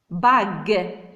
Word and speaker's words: bague: Une bague. Bravo. Alors, on a prononcé G parce qu'il y a le U.